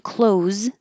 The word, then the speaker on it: clothes: means put clothes on clothes can be I I bought new clothes or closed the door same thing that the th here just completely disappears cloths clothes clothes sincerely